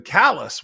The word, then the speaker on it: Calais: is more French and then he was given callous which is spelled like Calais and so he made him